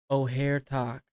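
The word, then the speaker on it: Ojer Taq: Actually, O'Hare, that's how you say it, right? Oh, someone taught me that. Actually, O'Hare Talk triples tokens, not doubles.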